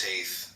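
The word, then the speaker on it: Teth: Come on and te pronounced taith transcribed as t the number nine meaning serpent the intelligence of the secret of all spiritual activities.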